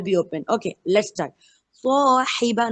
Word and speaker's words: صاحب: Swahiba, not sahiba.